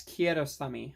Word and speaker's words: Kiarostami: Like Someone in Love by Abbas Kiarostami, I believe is how you pronounce his name.